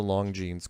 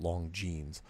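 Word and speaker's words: Longines: this show called the long genes chronoscope which is spelled l-o-n-g-i-n-e-s but it's pronounced long genes and i think it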